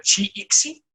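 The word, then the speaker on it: ch'ixi: que es el de, no sé si se pronuncia Chi-Ixi o cómo se pronuncia, no estoy tan El seguro. cheje le decimos.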